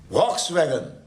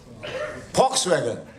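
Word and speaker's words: Volkswagen: वॉक्सवैगन बोलते क्या है उसको? फॉक्सवैगन। तो लिखते क्या है? डब्ल्यू से। नहीं, मेरी अंग्रेजी अच्छी नहीं है इसलिए पूछ रहा हूं मैं। डब्ल्यू से लिखते हैं ना स्पेलिंग, वी। तो फिर फॉक्स कहां से आ, फॉ कहां से आ गया?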